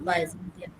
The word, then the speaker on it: Byzantium: বাইজেন্টিয়াম বলো উচ্চারণটা কি হবে? বাইজেন্টিয়াম হ্যাঁ, বাইজেন্টিয়াম। to Byzantium.